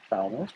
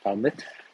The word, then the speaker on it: Falmouth: making our way into Falmouth, or Falmouth, I guess, in the local pronunciation.